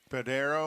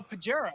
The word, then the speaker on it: Pajero: Padero? Oh, Pajero.